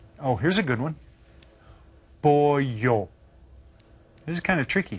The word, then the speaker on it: pollo: Pollo. This is kind of tricky. Think about it. Pollo. Okay, we've seen it a couple times, so maybe you'll remember. Did you spell it? P-O-E-Y-O. The H-Y.